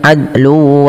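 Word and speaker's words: عدل: Adlu wala ini sering padahal dia harus mantul adlu wala ya.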